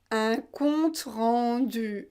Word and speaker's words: compte rendu: aussi pour vous une pas ou ont eu un compte rendu un compte-rendu pratiquer pratiquer pratiquer pratiquer hockey le